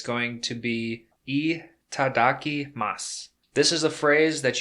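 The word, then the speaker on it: いただきます: Once again, that's itadakimasu. It's spelled I-T-A-D-A-K-I-M-A-S-U.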